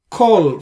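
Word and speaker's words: כל: Most of the times it appears, it applies to the word kol, means all.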